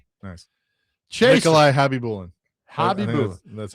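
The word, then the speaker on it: Khabibulin: Chase Nikolai Hobby Bulan.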